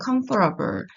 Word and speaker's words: comfortable: 어 하나의 예요 하나의 comfortable 자 요거 에블 있다고 해서 에이블로 발음하시면 안 돼요 어까지 해서 블 comfortable 하고 발음하는 친구들이 있는데 그렇게 하면 안 돼요 comfortable SW shirt 자